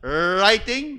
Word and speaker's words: writing: And then writing, W. But it's pronounced with silent W. Writing.